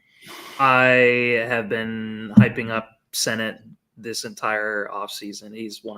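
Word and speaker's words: Sinnott: But I'm white, and I read that as Senat.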